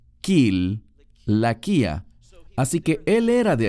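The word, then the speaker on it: Cilicia: la frase aquí es kil laquia sé que muchos lo pronuncian con un sonido de s porque tiene una c pero en griego se pronuncia kil la quía Así que él era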